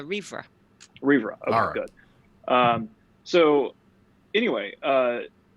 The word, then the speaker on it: Rhivre: for two different things was the official way to pronounce your name it's a reefer Libra are good so